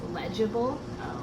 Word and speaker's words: legible: Legible? Okay? Printable. That's actually in that word, the G is pronounced J. It's legible, and it means it's able to be read.